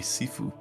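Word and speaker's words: shifu: Um, it would probably be seiffu, otherwise spelled typically spelled chifu, but it's pronounced.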